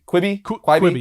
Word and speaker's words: Quibi: But moving on to movies and television, we have, I don't know how to even pronounce this name. I think it's Quibi? Quibi, yeah.